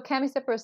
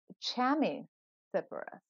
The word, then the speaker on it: Chamaecyparis: I was listening to an RHS podcast the other day, and I think Matt Pottage, the head of RHS, said at Wisley, said chamois Cyperus. Now, I don't know if that was a Britishism or if that was the way it's supposed to be pronounced, but I don't know